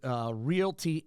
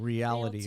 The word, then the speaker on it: realty: She's a licensed real estate agent with Realty Executives of St. Louis. She taught us how to say realty, I think, in our first show because we were saying reality or realtor.